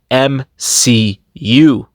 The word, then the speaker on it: MCU: such thing as the M she you it's pronounced m c u Marvel Cinematic Universe not MCU like you